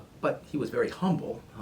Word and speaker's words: Humble: guy from France and in France you don't pronounce the HS on front names but he was very humble it's just that his last name was humble